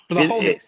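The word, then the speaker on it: Błachowicz: Well, it, it, Blachowicz, that's how it, you say his name.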